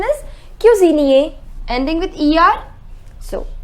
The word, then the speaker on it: cuisinier: The pronunciation is boulanger, ending with ER. Boulangère. Boulanger, boulangère. The next is cook. Cook is cuisinier. The pronunciation is cuisinier, ending with ER.